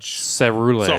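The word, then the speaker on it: Ceruledge: is it Cerulege or is it Carulege? Cerulege. It's a hard C.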